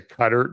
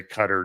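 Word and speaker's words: Qatar: the Persian Gulf is I'm going to say cutter that's what everybody I've been listening to in the news has been saying so you know what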